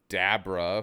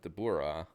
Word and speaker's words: Dabura: When it came to names, though, it could get a little bit tricky because, we were never going to say, like, Dabra for Dabura if we ever did that.